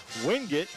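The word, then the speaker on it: Wingate: Carolina and and they they pronounce it wing it up there.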